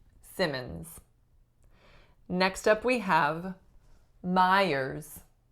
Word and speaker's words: Simmons: this last name say Simon's and that would be the pronunciation if there was only one M in this last name but typically when there are two M's we say Simmons Simmons next up we have